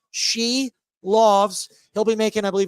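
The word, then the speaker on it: Silovs: David quad he said it's pronounced she loves he'll be making I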